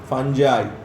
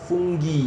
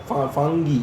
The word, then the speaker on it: fungi: ইটস নট ফুঙ্গি, ইটস নট ফাঙ্গি, ইটস ফাঞ্জাই। ফাঙ্গি বলতে পারিস, তাও ফাঞ্জাই বলবি, শুনতে ভালো লাগে, ঠিকঠাক উচ্চারণ। অ্যাকচুয়াল উচ্চারণ হচ্ছে ফুঙ্গি, মানে আধুনিক যে উচ্চারণ আমাদের, ওটার নাম কি? আমেরিকান অ্যাকসেন্ট ইজ ফুঙ্গি, মানে গুগল দিবি দেখবি ফুঙ্গি বলছে। আর হ্যাঁ, ফুঙ্গি বল, ফুঙ্গি। আর ফাঙ্গি বলবি না, ফাঙ্গি বলে কিছু নেই।